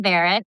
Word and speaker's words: Varet: So, um, Barrett remind, you know, the last name is it rhymes with carrot.